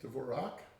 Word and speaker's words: Dvorak: Jean Dvorak, which I'm probably not pronouncing correct. I think Dvorak.